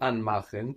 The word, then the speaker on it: anmachen: So anmachen, to turn on, is from an and machen. Is anmachen a separable verb? Can it split? Yes, it is. Why? Because the stress is on the and part.